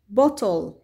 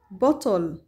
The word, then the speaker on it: bottle: هنا لدينا كلمات تنتهي بحرفا ال L ويليه E، إذن ال E لا تلفظ، ال ال مثل bubble bubble وتعني الفقاعات، table table طاولة، needle needle الدبوس أو الإبرة، bottle bottle القارورة.